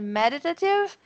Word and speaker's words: meditative: Essas duas palavras, são duas palavras que têm a sílaba tônica no início, na primeira sílaba, né, e que é